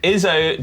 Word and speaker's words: Izzo: Izzo derives from the German pronunciation of is so.